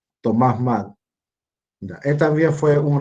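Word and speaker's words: Thomas Mun: vamos a agregar, que se llama Thomas Mann, ya que se escribe Moon, Thomas Mann.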